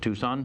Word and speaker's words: Tucson: in the Tempe, I believe is how they annoyingly pronounce it. I'm sorry. And also, it's Tucson, the way you're spelling it. People of Tucson.